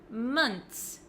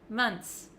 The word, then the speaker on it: months: I do say is months months six months months so it looks like this it looks like there's just a TS at the end I don't pronounce the h months months make sure